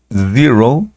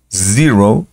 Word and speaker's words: zero: pronunciación del del cero conocemos el sonido de la Z el sonido de la z Recuerden que vibra no es una s común y corriente Entonces sería Zero Zero o en su defecto